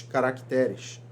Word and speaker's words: caracteres: de sílaba tônica certo substantivos sofrem deslocamento da sílaba tônica ao passarem para o plural exemplos o caráter os caracteres o Lúcifer Lúcifer o Júnior